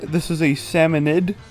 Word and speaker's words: salmonid: that too, but yes, it is pronounced salmonid, even though salmonoid sounds better.